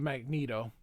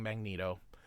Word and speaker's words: Magneto: we go but it should be Magneto but I will continue saying Magneto because that's how everybody says it but it's Magneto all right um holy